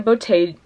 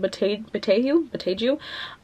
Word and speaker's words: Boteju: Anyway, next we have Bruised by Tanya Botei. I forgot how to pronounce her last name. Boteju.